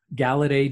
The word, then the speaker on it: Galaudet: uh i n galade g l auu d t yes it's got that bizarre French pronunciation uh and I have